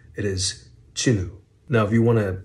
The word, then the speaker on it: Jinwoo: have not realized but the correct Korean pronunciation does not have the W sound in it so it is not Jin Wu it is chinu now if you want